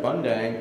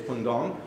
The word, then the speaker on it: Bundang: seven that's actually pronounced it looks like bundang it's pong Soul National University pong